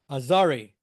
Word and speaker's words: Azgari: And I learned that, okay, you'll see her name has a G, but it's not pronounced. It's like French. Azgari.